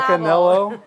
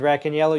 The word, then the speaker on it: Racaniello: The It's accent's Vince on the second syllable. Racaniello. No, it's not It's Racaniello.